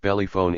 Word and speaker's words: pelephone: It's better than standing around, he says the next morning, as he brings me a rented pelephone, the Hebrew word for magic phone, pronounced bellyphone in Arabic, which, despite its mispronounced